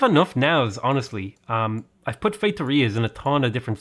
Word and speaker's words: feitoria: I've put feitorias in a ton of different cities, or feitoria, as I think is the most correct pronunciation I'm ever going to manage.